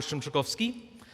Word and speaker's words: Szymczykowski: So if you can say Pa, Bell, Shrimp, Chick, Coffee, Ski, we'll call it close enough.